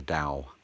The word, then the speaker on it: Tao: Unless maybe, you're not used to sitting in inner peace and enjoying the Tao. Notice D pronunciation for the T letter.